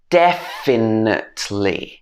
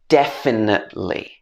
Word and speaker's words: definitely: the beginning de finn definitely or we cannot pronounce the t at the end we can say definitely number two is library